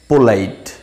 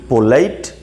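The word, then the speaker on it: polite: First আমি বলছি, যেমন বি পোলাইট। বি পোলাইট আমরা কোন অর্থে ব্যবহার করি? এর মানে হচ্ছে ভদ্র হও, ঠিক আছে? অ্যাকচুয়ালি পোলাইট নয়, প্রোনাউন্সিয়েশনটা সঠিক প্রোনাউন্সিয়েশন হচ্ছে পালাইট।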